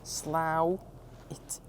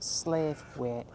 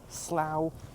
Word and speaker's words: Slaithwaite: And before we even get any further, how you pronounce it is Slaithwaite, not Slaithwaite. A lot of locals here don't like when tourists and people call it that. So let's just get it right. Slaithwaite.